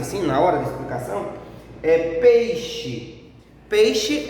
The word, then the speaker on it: peixe: O som mais forte é no pei, então é uma paroxítona, porque é na penúltima sílaba.